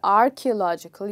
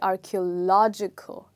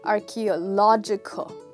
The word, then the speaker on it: archaeological: So the next time you say it, you'll not say archaeological, you'll say archaeological, okay? Please repeat that after me. Archaeological, okay. Now that you've got it right, you are a fluent speaker of English because you are pronouncing a word with six syllables absolutely correctly.